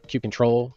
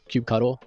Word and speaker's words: kubectl: Kubectl, kubectl, kubectl? There are a lot of different ways to pronounce the name of this tool, so whatever works for you.